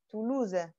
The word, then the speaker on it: Toulouse: Et si les Toulousains prononcent la ville de Toulouse, ils vont prononcer la fin, Toulouse.